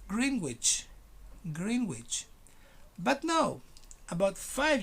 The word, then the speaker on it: Greenwich: is called are you prepared yep it's called greenwich greenwich never language even though some in people